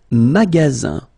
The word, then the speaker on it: magasin: Le magasin. Le magasin. Okay, remember you've got only one S between two vowels. Then you get the sound Z, alright?